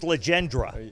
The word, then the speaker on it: Legendre: It's Legendre.